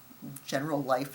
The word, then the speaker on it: Generalife: a place called Generalife, which is general life. It looks like it when it's spelled, but in Spanish, it's Generalife, and it's the gardens where they would go and spend time.